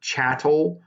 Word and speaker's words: chattel: it's spelled it's pronounced chatel um like cattle with a ch sound um basically just the